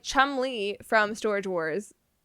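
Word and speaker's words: Cholmondeley: Enter Charles Chumley. Chumley. Chumley. And you should but you should see how this is spelled because it doesn't look like Chumley.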